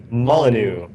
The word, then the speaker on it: Molyneux: mullen how do you say his last name molyneux yeah um certainly uh that's fine peter molyneux